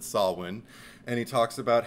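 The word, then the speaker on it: Samhain: also brings up and he pronounces it correctly not Sam Hayne sorry Donald Pleasants but he calls it sawin and he talks about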